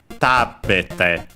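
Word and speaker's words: 食べて: But by adding the te, the accent falls on the third to last syllable, and so goes one before. Tabete. On the ta.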